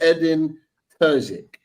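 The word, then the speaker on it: Edin Terzić: about it before we went live is it edin tuik is that right okay got it got it got the pronunciation right um I'll come to you Sarah on edin Turk like how you know how good of a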